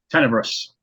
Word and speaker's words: Tenebrous: to his master, and I'm mispronouncing that. It's Death Tenebrous. Tenebrous, thank you.